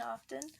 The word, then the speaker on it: often: pronounce the T in often I do pronounce the T it's there for a reason yeah vanilla gravity would